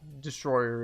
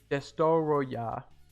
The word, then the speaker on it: Destoroyah: Godzilla versus Destroyer, whose name I'm not going to try to pronounce because it's not Destroyer, it's... Okay, I'm going to try it. Des- Destoroyah. Destoroyah. Destroyer.